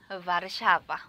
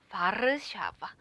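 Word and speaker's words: Warszawa: 수도는 바르샤바. 우리 이제 발음 공부할 건데, 우리 워소라는 말 많이 했을 거예요. 근데 우리는 이제 발음 공부를 할 거니까 바르샤바. 요 발음 공부도 같이 진행을 할게요.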